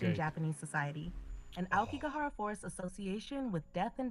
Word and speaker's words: Aokigahara: There's a syllable in the middle here. Aokigahara forest.